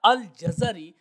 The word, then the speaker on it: الجزری: الانساب میں یہ فرمایا الجزری بفتح الجیم والزاء وکسر الراء۔ وہ فرماتے ہیں جیم اور زا کے فتح کے ساتھ اور را کے کسرہ کے ساتھ الجزری، اصل میں یہ تلفظ بنے گا الجزری۔ اور امام جلال الدین سیوطی رحمہ اللہ فرماتے ہیں الجزری بفتحتین، فرماتے ہیں کہ جزر یعنی